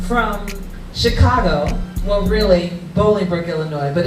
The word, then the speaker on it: Illinois: And yes, we don't pronounce the S on Illinois. It's not Illinois, right, everybody? It's Illinois.